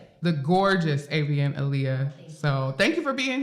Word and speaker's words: Avianalia: But we got the lovely Avon in the studio.